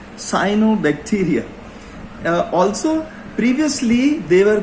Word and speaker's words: cyanobacteria: lionel bacteria or the cyanobacteria sorry for the mispronunciation it's cyanobacteria also previously they were called the blue-green bacteria